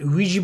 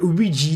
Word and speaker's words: Ouija: As you can clearly see, the word Ouija does not end with an I, it ends with an A. So it should be an Ouija, but everybody pronounces it a Ouija board. But I don't know where that final where the final I comes from, because it's not there.